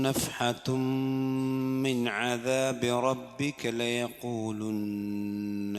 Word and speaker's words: نفحة: നഫ്ഹതും മിൻ അദാബി റബ്ബിക്, നഫ്ഹതുൻ എന്നല്ല, നഫ്ഹതും അവിടെ മീമിന് മണിക്കണം.